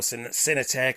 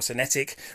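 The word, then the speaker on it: Synetiq: local salvage auction or cinetec or senetic whichever way you'd prefer to pronounce that just a little heads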